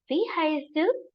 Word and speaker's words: Wie heißt du: It is pronounced as Wie heißt du?